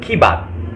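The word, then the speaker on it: के बाद: Lalu atau kemudian itu dalam bahasa Indianya itu kibat. Tulisannya K-E spasi bat, tapi dibacanya kibat.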